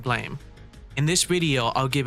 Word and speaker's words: Blame!: goes by the name Blame. It's also known as Blam, but for the sake of this video, I'll pronounce it Blame.